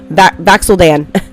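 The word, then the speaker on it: Vax'ildan: Like, you know, Vaxeldan.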